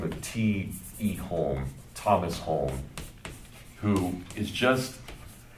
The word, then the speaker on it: Hulme: Yeah, Hulme, and it's properly pronounced Hulme. But the way, if you hear like Eliot say it, he'll call him home. So he swallows the L.